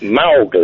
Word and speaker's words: Mowgli: I don't know how it's pronounced. Okay. It's Mowgli, It's isn't just it?